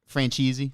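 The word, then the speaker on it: Franzese: said you say his name it would be franchisee okay yeah um he said that if any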